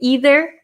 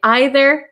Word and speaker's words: either: So my pronunciation as an American from Wisconsin, I say either and neither.